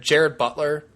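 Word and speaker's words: Gerard Butler: thinking of but J I know I know it's spelled Gerard but it's pronounced Jared Jared Butler yeah um not the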